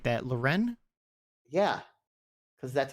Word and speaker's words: Lauren: Ralph Lauren sneakers why you say like that Loren yeah because that's how you say it and